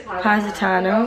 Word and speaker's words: Positano: Positano.